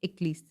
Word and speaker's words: Aeschylus: Aeschylus, that is pronounced as Eccles.